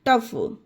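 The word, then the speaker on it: tough: गया उसी तरह से टी ओ यू जी एच टफ जी एच आया गाइस लास्ट में फा का उच्चारण दिया गया तो टफ पढ़ा गया एल ए यू जी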